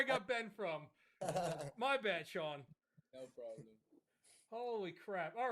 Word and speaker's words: Sean: pronounce your name, but I'm I'm sure I butchered it. Oh, it's Shaun. GOSH. OH MY GOD. Complete typo. Holy crap. Oh my god. I don't know where I got Ben from. My bad, Sean.